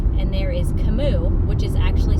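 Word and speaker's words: Kamut: it and there is spelt and there is cimu which is actually spelled k a m u t but it is pronounced anounced cimu those are Ancient Grains and I'm sure there's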